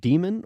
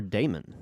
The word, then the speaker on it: daemon: important question is it demon or daemon um you know i've heard it pronounced both ways um you know like